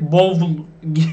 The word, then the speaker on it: bowl: Bunun okunuşu biraz farklı. Buna dikkat edin. Direkt bowl demiyorsunuz.